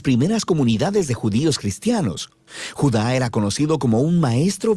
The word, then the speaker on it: Judá: La carta de Judas, o más precisamente Judá, de acuerdo con la pronunciación de su nombre tanto en griego como en hebreo.